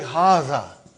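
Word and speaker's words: هذا: See, it is pronounced like Haza. But this alif is not written.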